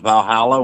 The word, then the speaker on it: Valhall: Uh the the actual the first the original name is Valh Hall, like Valhall, right? Hull. Uh it's it's spelled V A L H O L.